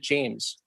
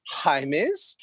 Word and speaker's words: Jaimes: Is it Jaimes or is it James? What's the proper way to say it? Yes. And so that you never forget again, it's Jaimes, yes. Like your Highness.